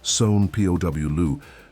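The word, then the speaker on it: São Paulo: She was living in Sa Paulo, pronounced SW P Louu, trying to keep a low profile, but she was also running out of money.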